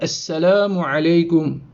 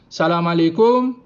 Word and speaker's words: Assalamu alaykum: son compagnon, la personne là il fin faire assalamu alaykum.